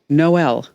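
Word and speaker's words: HIJKM: says not a problem it's pronounced no l like there's no L I know I understand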